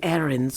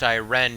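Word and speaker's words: Ayrenn: to Auradon to meet with someone from Queen Erin's court. You might check the docks in Skywatch. If he intends to deliver another one of these medallions, you should hurry and intercept him. It's pronounced Iren, you fucking uncultured Nordic bitch.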